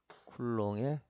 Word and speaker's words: Coulomb: 발음이 쿨롱, 앙페르 이러면 다 프랑스 발음이야.